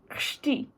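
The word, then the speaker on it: chci: for i want is shti i'm going to write it down here and the first part is the c you pronounce that and i is just i so it's really difficult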